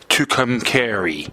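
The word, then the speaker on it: Tucumcari: Tuk I hope I pronounce this right. Tukami New Mexico.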